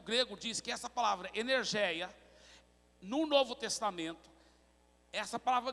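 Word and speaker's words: ἐνέργεια: É uma palavra que é pronunciada no grego assim, energeia.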